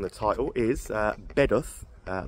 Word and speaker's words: Bedworth: title is is uh bed uh that's how the locals say it bed uh and I was I was categorically warned on Facebook to make sure I said it like a local or there would be